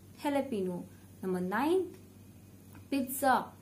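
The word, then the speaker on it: jalapeño: Number eighth, jalapeno, not jalapeno. This is a very common mistake. So the right pronunciation is jalapeno, jalapeno.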